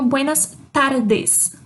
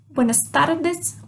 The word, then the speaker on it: buenas tardes: Eu tenho um tremido, eu faço um tremido quando eu falo de tardes. Buenas tardes. Buenas tardes. Certo? Então, a língua dá uma tremidinha dentro da boca na hora de falar o tardes.